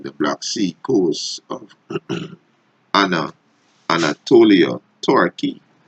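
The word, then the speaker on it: Ανατολή: It's Anatolia, right? It's modern Greek, right? Which is Greek pronunciation Anatoli, Turkish Anadolu, right?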